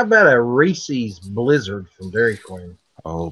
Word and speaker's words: Reese's: It's not Reese's. You gotta pronounce it like you know. It's Reese's.